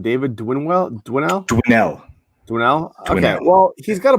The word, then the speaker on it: Winell: Well, if he's he comes trying to get on, how do you pronounce his last name? David Winell? Winell.